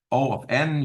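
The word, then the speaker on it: O(n): is O of G of n um it's pronounced just o of n you wouldn't always just say Big O whatever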